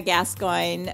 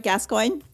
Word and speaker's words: Gascoigne: city in southern France so in in French it's pronounced gas but we we've definitely butchered it a bit and Americanized it so it is called it's literally gas coin so good job okay